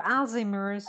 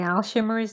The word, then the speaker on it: Alzheimer: Alzheimer's fears or Alzheimer's fears. Yes. You also pronounce it with sh.